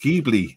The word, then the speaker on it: Ghibli: Richard said it's pronounced Ghibli.